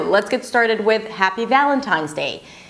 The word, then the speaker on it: Valentine's: Okay, so it's not Valentine's, it's Valentine's.